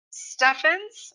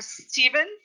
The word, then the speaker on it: Stephens: name of the tour stephens or stevens this name is pronounced in two ways and you can say